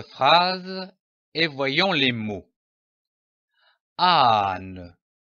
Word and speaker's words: âne: Âne. Remarquez l'accent sur le A. C'est un accent circonflexe. Ici, vous devez prolonger un peu le son du A. Âne.